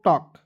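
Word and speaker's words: talk: ए एल के टॉक टी ए एल के क्या पढ़ेंगे दोस्तों टॉक क्योंकि इसमें एल साइलेंट रखेंगे एक एग्जांपल के तौर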